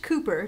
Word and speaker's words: Cowper: The surname is spelled Cowper but pronounced "cooper"" just like the famous Georgian poet, William Cowper, who is mentioned in Jane Austen's novels as a favorite author of both Marianne Dashwood and Fanny Price.